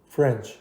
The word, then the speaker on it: فرنچ: داریم به نام فرنچ فرنچ رو هم اگه بخوایم تلفظ کنیم ف و ر البته ر بعدش ساکن نیست میشه رنچ فرنچ فرنچ نگین فرنج ا ندین حداقل بهش اوکی سعی کنین ساکن شروع کن کنید فرنچ فرنچ فرنچ نه اینکه فرنچ روی